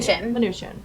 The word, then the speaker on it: Mnuchin: Mnuchin.